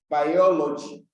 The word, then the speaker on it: biology: has been said that the third syllable from the last that is when you are counting from the end you count backwards the third one comes from the ends you count backwards the third one will give you the stressed syllable so you can see